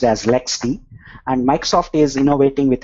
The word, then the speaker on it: LXD: and canonical has their own container called lxd pronounced as lexd and microsoft is innovating with hyper-v containers and